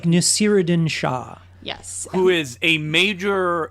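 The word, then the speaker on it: Naseeruddin Shah: It's like Nasiruddin Shah.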